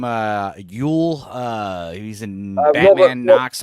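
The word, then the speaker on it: Wuhl: Uh, Ule. Uh, he's in Batman Knox Arus. Robert Wool. Robert Wool. Wool.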